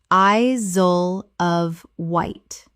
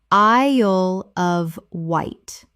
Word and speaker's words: Isle of Wight: Repeat Connect-i-cut Connecticut Word 120 Isle of Wight Common mispronunciation I-zole of Wight Correct pronunciation I-ole of Wight The Isle sounds like the word I plus ole.